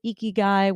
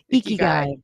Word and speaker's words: ikigai: and I got certified in life purpose coaching, Ikigai, which is finding your life's mission, your life's purpose.